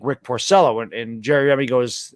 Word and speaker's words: Porcello: and um he says he doesn't say rick porcello he says pursello so he's like i say you know orcillo says whom he goes uh it's like rick porcello and jerry remy goes